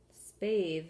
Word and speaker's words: spathe: Spathe is a word with a silent E. It makes the A have the long sound.